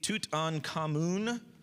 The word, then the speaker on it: Tutankhamun: So King Tut, you see Tutankhamun is King Tut's like full name, right?